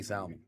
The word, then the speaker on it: salmon: Pronouncing the L is an incredibly black thing to do. I don't know why I said salmon. I never say salmon. I don't know where the L came from.